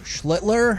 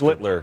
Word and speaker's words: Schlittler: Schlittler. Oh, well, he's the master. Schlittler. Schlittler. You now your turn. Sound like Hitler.